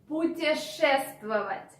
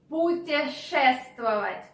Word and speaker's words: путешествовать: I understand that the verb is long and challenging because of this sh sound. Путешествовать. Путешествовать. And moreover, we have some consonants in a row. This also can be a bit difficult.